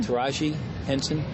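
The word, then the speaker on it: Taraji Henson: Taj Henson yes she's how you pronounce her name taji Henson yeah um she was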